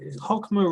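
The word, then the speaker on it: Chokmah: Bina, Hokmah. Hokma. Is that how it's Yeah.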